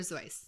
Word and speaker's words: Seuss: If you want to be real, it's Dr. Zoe. Zoe.